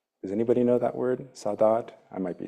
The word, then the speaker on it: saudade: of like this called saudade. Does anybody know that word, saudade? I might be saying it wrong. It's Portuguese. Anybody? Somebody say it? Sadaji? Sadaji? Thank you, Andrew.